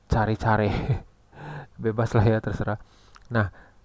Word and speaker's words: caricare: Tulisannya gitu, CARICARE. Bacanya cari-cari.